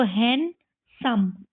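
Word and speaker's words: handsome: इसमें भी डी को साइलेंट करो। तो इसको हैं सम हैंसम है ना?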